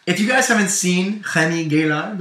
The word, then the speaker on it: Remi Gaillard: If you guys haven't seen Remi Gaillard, or Remi Gaillard, as Graham pronounces it, definitely check out his video.